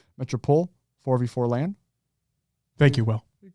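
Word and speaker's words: Métropole: It literally just looks like Gaiman, but Gaiman, Rouen, Metropole, because they wouldn't pronounce the E at the end. Metropole, 4v4 LAN.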